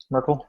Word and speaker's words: Merkel: uh how how do you how do you pronounce her name the the the German uh the German Chancellor marle Merkel yeah Merkel and uh they duplicated her fingerprints